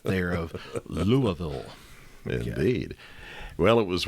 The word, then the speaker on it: Louisville: at the University of Louisville. Yeah, we say Louisville because on one of the YouTube videos that we talked about Louisville, I pronounced it Louisville, and I was kindly corrected on that.